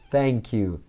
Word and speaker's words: thank you: você falar obrigado né tem que colocar a língua entre os dentes a a da língua você encosta a ponta entre os seus dentes e a sopra vamos pronunciar thank you thank you thank you então não é o t não é o f e a língua precisa est entre os dentes para ficar legal mesmo tá para ficar bem